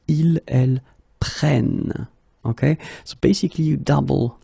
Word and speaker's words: prennent: Okay, keep in mind that you should pronounce it prenons, vous prenez, and then the last one, the tricky one, ils prennent. Okay, ils prennent.